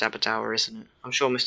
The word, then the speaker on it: Aberdour: I think it is actually pronounced Aberdour, isn't it?